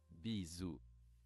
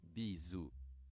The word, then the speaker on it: bisous: Pro pronunciation? Play? For kisses. Let's say it all together. Bisous. One more time. Bisous.